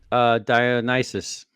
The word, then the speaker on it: Dionysus: Did I pronounce that correct, Dave? Dionysus.